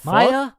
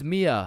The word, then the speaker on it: Mia: Wait, what the Maya, is is Maya present? Uh, it's it's Mia.